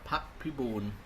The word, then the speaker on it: Pap Punan: Now just to go through the same format as a theme did uh I want to introduce myself as Pap Punan. That's how I pronounce it in Thai.